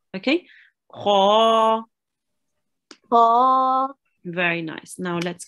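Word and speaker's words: خ: Kha. Yes. What type of letter is kha? It's the one you pronounce from your throat.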